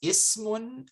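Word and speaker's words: اسم: Okay, so the words ismun and ibnun commence or start with a hamzatul wasl. When preceded by a word, the initial e is dropped in pronunciation. So you say on its own, ibnun, ismun, you pronounce the I sound, right? But here, so Ismul waladi Bilalun. So you pronounce it here, but here you don't.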